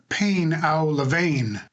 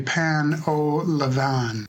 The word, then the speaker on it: Pain au levain: We are making Pain Au Levain is not how you say it. It's actually Pain Au Levain, and that is just the generic French name for sourdough bread.